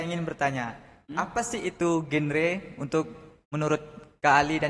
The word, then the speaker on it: GenRe: bertanya apa sih itu genre untuk menurut Kak Ali dan juga Kasta dari generasi berencana jadi bacanya itu genre ya bukan genre kan kalau genre jadi